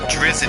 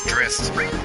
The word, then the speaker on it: Drizzt: Saw it on, I mean, because we all thought it was Drizzt for like the longest time, and then it's like, no, it's Drizzt. I'm like, oh, can we just pretend it's Drizzt?